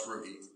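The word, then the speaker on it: rugae: stomach and they're called rugi r u g AE rugi you would think rug but I've always heard it pronounce rugie um these folds are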